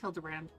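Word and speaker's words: Hildibrand: It's pronounced Hilderbrand.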